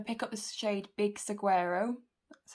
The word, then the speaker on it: Saguaro: Louise cut crease brushes, and I'm going to pick up the shade Big Saguaro, that's how you say it, and I'm going to start by using this dry.